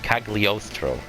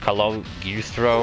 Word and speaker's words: Cagliostro: castle of coughly ostrow i finally learned how to pronounce that cagliostro i used to say like hello eustro or some [ __